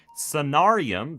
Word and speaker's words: Sonarium: Samarium is the lanthanide, okay? That's what we're making for motors. It's ferromagnetic. That's the thing we want. Sonarium, that's how I pronounce it. The R is the main distinction.